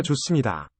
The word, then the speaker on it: 좋습니다: 학교가 좋습니다. 학교가 좋습니다. Is that it? 학교가 좋습니다. Sounds like the 학교가 H 좋습니다. causing the S to geminate.